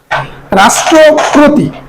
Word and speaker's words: রাষ্ট্রপতি: এরপরে রাষ্ট্রপতি, রাষ্ট্রপতি আমরা উচ্চারণ করলাম কি রাষ্ট্রপতি। সবসময় স যে কোনো শয়ে থাকুক, উচ্চারণ হয় তালব্যস্য। তাহলে তালব্যস্য রাষ্ট্রপতি, রাষ্ট্রপতি। এখানে এই ইকারের কারণে পয়ের সাথে ওকার হয়েছে রাষ্ট্রপতি।